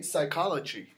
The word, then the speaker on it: psychology: In Greek, actually, this has a sound, but in English, when it was imported into English, it doesn't have a sound, so we only use the S. So we say psychology.